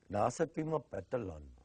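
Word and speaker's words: Nahasapeemapetilon: Nasapima Petalon. I don't see why people have such a hard time. Just for now, it's spelled like it sounds.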